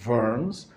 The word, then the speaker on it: Worms: Shin is for Speyer, Vav is for Worms or Worms, and Mem is for Mainz or Magenza, the way they used to pronounce it, or the way we pronounce it sometimes today.